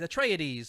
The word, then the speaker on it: Atreides: is it how do you say these atreides atreides there you go so steve who do you